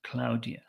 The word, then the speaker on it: Claudia: Claudia Claudia um but in Spanish this would be pronounced Claudia cloudia um so when it